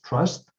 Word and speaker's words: TRVST: That is called TRVST. We pronounce as trust.